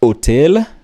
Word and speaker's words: hôtel: In French, it is pronounced as hôtel. The H is silent.